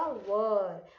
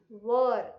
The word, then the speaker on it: were: लेकिन ये वाला जो WERE है, इसका प्रोनाउंसिएशन क्या है? वर. इट इज नॉट वेर, इट इज वर, right.